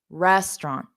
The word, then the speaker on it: restaurant: Okay, so now, okay, Omer, make sure you have the syllable stress the other way because it's dada, restaurant, dada, restaurant. Exactly, exactly.